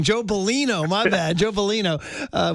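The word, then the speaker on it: Bellino: Joe Baloney.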